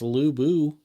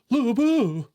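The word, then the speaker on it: Lü Bu: a little come on I can pronounce l boo but it's it's lu bo but it's like actually it's actually kind of like a o it's like a e at the end sort of so it's like Lou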